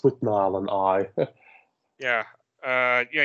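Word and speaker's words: Withnail: it's it's a bit like how do you spell that um w i t h n a i l oh with nail and I yeah I I prce things a little differently but yeah it's with Nile and I yeah uh yeah yeah just I've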